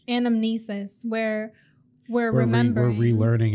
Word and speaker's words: anamnesis: an anthus how do you say it again anamnesis anamnesis where we're remembering we're relearning and remembering from